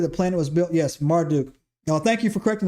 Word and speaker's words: Marduk: Yes, Marduk.